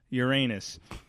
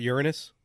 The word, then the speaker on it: Uranus: the tourist town of Uranus which is pronounced the way any self-respecting class clown would say it not Uranus Uranus sits along historic route